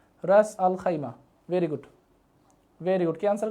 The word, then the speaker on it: রাস আল খাইমা: আমি খাইমা লিখে দিলাম এটা উচ্চারণটা হবে রাস আল খাইমা রাস আল খাইমা very good very good